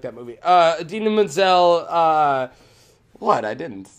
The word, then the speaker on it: Idina Menzel: everything everybody knows for last year that he butchered you know her real name I only say adele dazeem now it's idina menzel idina menzel she's marine from rent yeah idina